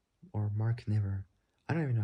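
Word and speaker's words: Niver: Mark Nyiver or Mark never I don't even know how you pronounce that spelled N I V E R. It's like saying river but taking out the R and putting N into it.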